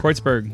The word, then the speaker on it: Kreuzberg: That's how you say it, Kreuzberg. Kreuzberg.